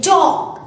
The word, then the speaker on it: talk: Again, talk. L is silent here.